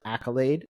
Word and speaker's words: AKYLADE: a little funny uh it's pronounced Accolade like you know yay congratulations um but it's spelled